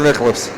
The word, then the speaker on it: Nichols: Are we pronouncing that Nichols or Nicholas? Nichols and Downey, 1 on the board.